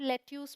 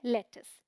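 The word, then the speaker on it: lettuce: बोलते हैं लेटस alright spelling में कोई आई वगैरह नहीं है बट लेटस बोलते इसीलिए मैं कह रही हूं ध्यान रखिए क्योंकि स्पेलिंग के अकॉर्डिंग जाएंगे तो इसे आप लेट ट्यूज पढ़ लेंगे बट ये है लेटस ठीक है ये है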